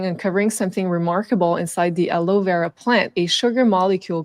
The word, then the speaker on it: aloe vera: So this is about the conspiracy about aloe vera. I know in English they don't pronounce the E.